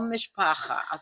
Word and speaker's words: mishpacha: And if you'll remember, you are my mishpacha, or in Yiddish, my whole mishpacha. That's how they say it.